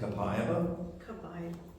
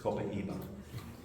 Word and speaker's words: Copaiba: Copiaba, is that correct? Copiaba? Some people pronounce it Copaiba. Brazilians pronounce it Copaiba.